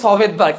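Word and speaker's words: Svedberg: আর এস কথাটা পুরোপুরিভাবে পৃথক করতে পারে বিজ্ঞানী ভেদবার্গ, তার নামটা হচ্ছে সভেদবার্গ, SVEDVERG। এসটা সাইলেন্ট থাকে আর কি, ওদের নাম মূলত ভেদবার্গ, বাট নামের আগে একটা এস থাকে, ভেদবার্গ।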